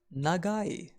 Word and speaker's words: 長い: the symbol for long we pronounce long as negai we can remember negai